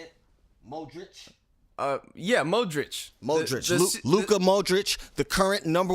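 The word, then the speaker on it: Modrić: Yeah, Modric.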